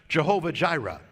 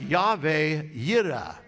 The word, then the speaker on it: Jehovah Jireh: Now, you have probably heard the expression, Jehovah Jireh. Right? Well, of course, that's not really how you pronounce it. It is more like Yahweh Yireh.